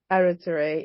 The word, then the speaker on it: Aruoture: Her name is Toks Aruoture. I hope I got the pronunciation right. Aruoture. Aruoture, it's correct.